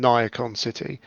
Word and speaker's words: Niacon: the previous book around niacon city by the way that's the other bit of uh pronunciation we confirmed it's Nia con City Nia as in Danny D unfortunately was the